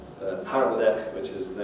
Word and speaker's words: Harlech: The velar fricative ch you only need to know about because it's in proper names and foreign words, so loch and Harlech, which is the name of a Welsh town.